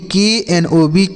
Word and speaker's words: knob: तो देखिए के और यन अगर एक साथ लिखे रहें तो यह के साइलेंट होता है। क्या होता है साइलेंट सर? के साइलेंट होता है। इस यन को पढ़ेंगे, लेकिन यह जो के होगा इसको नहीं पढ़ा जाएगा।